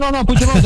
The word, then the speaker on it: Puigdemont: Que son los que están liderados por Carles Puigdemont, que es el líder. Lo pronuncié mal, ¿no? ¿Cómo se pronuncia? No, Puigdemont, no, perfecto.